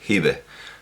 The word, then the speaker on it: Hiba: En realidad no tiene sentido decir Hibah, porque evidentemente esa H es la representación en la transliteración que es habitual en inglés de la ta marbuta, y directamente no se debería pronunciar, simplemente es un signo que indica el femenino y sería Hiba, Hiba, el papiro Hiba. Si queremos pronunciarlo a la manera dialectal, pues entendemos que sí, Hibe, Hibe, pero ni Hibe ni Hibah, sino Hiba.